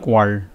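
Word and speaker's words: quarrel: আর কোয়াল, এটা হচ্ছে কোয়াল, রয়ের উচ্চারণটা থাকবে না, কোয়াল, কোয়াল মানে হচ্ছে ঝগড়া, এটা নাউন।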